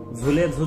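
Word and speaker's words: Nzulezu: सचिन आराम खुर्ची बसून झुले झू चा उच्चार शिकने चा प्रयत्न करत होता झुले झू च स्पेलिंग एन ने सुरू होत पण तो एन साइलेंट है हे समजाऊ नही सचिन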